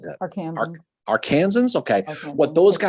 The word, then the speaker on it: Arkansans: Arkansans, okay.